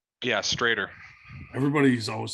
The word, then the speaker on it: Stroeder: Is that how you pronounce your last name? Yeah, Stroeder. Everybody's always saying Stroeder, so I was like, I better ask because